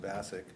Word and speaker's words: Bassick: We've got a situation there, or apparently the new dean is maybe at odds with Ryan, I believe his name is pronounced Bassick, who is the current